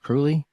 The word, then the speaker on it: Kruhly: Is it Kruhly? It is. All right, I pronounced it right.